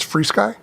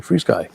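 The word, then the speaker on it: FrSky: Yeah, I think Fry Sky Fly Frisky makes them. Yeah. And you know what? I found out that the correct pronunciation is Free Sky. Is it Freeze Sky?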